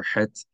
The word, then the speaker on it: het: If you struggle to produce the sound of het, it's better to just pronounce it like an H. If it's at the beginning of a word or in the middle of the word, pronounce het like the letter H in English, like the letter hey. Even though that also would be an incorrect pronunciation, but it's much closer to the correct pronunciation of het than chaf is, to the point that